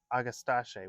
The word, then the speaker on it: Agastache: know how to pronounce I've always called it agastache and then someone that is a very good plant person called it agastache which sounds more fancy anyway this is aatach